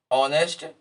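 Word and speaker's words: honest: इसी प्रकार ये जो एच से शुरू होता है, ये हिडन शब्द हैं, किंतु इनके उच्चारण में हम आ लगाते हैं शुरू में, ऑनेस्ट और आवर, तो इसमें एन शब्द लगेगा, एन आर्टिकल लगेगा।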